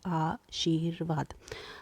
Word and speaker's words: आशीर्वाद: अब यहाँ पे देखते हैं आशीर्वाद, आशीर्वाद, आशीर र का हम देख रहे हैं, वाद के हमारा रेफ र की मात्रा लगी है, इसका जो उच्चारण होगा वो वहाँ से पहले हुआ है, आशीर्वाद।